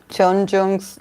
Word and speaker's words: Jeongyeon: How can I pronounce Jeongyeon's name better, please?